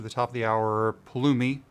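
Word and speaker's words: Pulumi: top of the hour paloomy i there i said it right finally joe and everybody else at palumi forgive me for always saying bulimi i don't know why i do that it's just it's habit paloomi we need to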